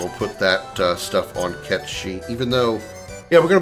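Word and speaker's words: Cait Sith: Yes, I'm going to pronounce it Ketchi, not Kate Sith, because Ketchi is the proper pronunciation, even though the remake says otherwise.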